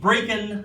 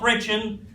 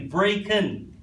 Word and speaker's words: Brechin: a brick and court pronounced breaking not bretchin that's the scottish way to pronounce it if you google it they will lecture you if you pronounce it incorrectly breaking 832 length 832 limb